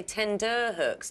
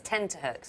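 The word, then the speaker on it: tenterhooks: that's the one 10x because people say tender hooks don't they yeah it's 10 to hooks yeah Cache coup de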